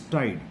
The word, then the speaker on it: tilde: This symbol is tilde, T-I-L-D-E, L is silent.